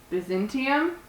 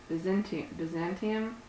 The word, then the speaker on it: Byzantium: And then the next steelbook I got was Byzantium. I always want to like emphasize the Byzant part, like Byzantine, like the Byzantine period. Byzantium.